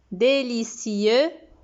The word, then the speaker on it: délicieux: Délicieux, donc délicieux, avec un X muet.